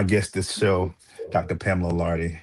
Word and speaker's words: Larde: Pamela Lard.